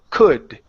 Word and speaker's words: could: down here uh C could now also remember when you pronounce the d at the end of that word you don't want it to touch the back of your teeth okay like a Spanish D we don't want